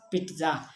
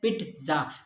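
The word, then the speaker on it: pizza: और नेक्स्ट आ जाता है हमारे पास पिज्ज़ा, पिज़्ज़ा जिसे हम पिज़्ज़ा बोलते हैं, ये होता है पिट्ज़ा, PIT होता है उसका। अगर प्रोनाउंसिएशन देखें तो फोनेट्स देखें तो पिट्ज़ा होता है, पिज़्ज़ा नहीं होता, ओके।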